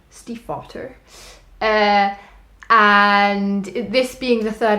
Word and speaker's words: Stiefvater: I pronounced that very German. Stiefvater.